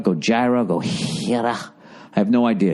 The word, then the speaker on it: Gojira: It's Gojira. Gojira.